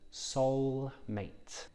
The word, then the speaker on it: soulmate: And in terms of the pronunciation, there is a slight w in there, soulmate. So press your lips together for the w and use your tongue for the ul, soulmate.